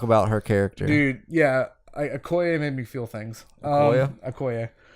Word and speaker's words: Okoye: Yeah, Okoye made me feel things. Okoye? Okoye. Okoye, is that how you say it? Yeah. Okoye.